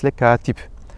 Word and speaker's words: kâtip: Mind that in the first vowel is long in the fâ'il and the second vowel in fa'îl. "Kâtip (scribe), hâfız (hafiz)" are pronounced first vowel long.